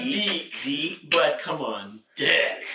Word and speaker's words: DiC: The 3 fantastic shows from Dick. Dick. It's pronounced Deek.